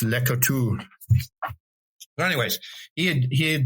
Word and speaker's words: Laclede: So, I know the French don't pronounce everything. So, it's you get here and it's legal talks, but it's French and it's Laclede.